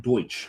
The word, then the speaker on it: Deutsch: It's just we bits pronounced Deutsch.